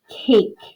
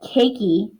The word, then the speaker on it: cake: the word cake okay i don't ask for a piece of cakey okay so please make sure that we're not saying the e but our a is long okay it's not cac either and i'll ask for a